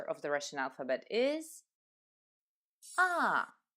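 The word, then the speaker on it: А: the Russian alphabet is aa aa is always pronounced in the same way as ah another important power is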